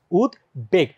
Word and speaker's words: উদ্বেগ: উদ্বেগ না কিন্তু উদ্বেগ বিশেষ করে যেগুলো সন্ধিজাত শব্দ এগুলোর মধ্যে ব ফলার উচ্চারণ কিন্তু বজায় থাকে যেমন আমরা যদি বলি